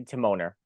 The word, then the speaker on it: Timoner: Andy timoner I just want to make sure I'm pronouncing your last name right that is right right so how did